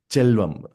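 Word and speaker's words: செல்வம்: For example, mm, Chelvam. So the word selvam alone is selvam, but when it's added with another word, it becomes chelvam.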